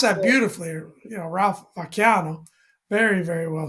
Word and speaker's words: Vacchiano: no, you pronounce That's that it. beautifully. Ralph Vacchiano.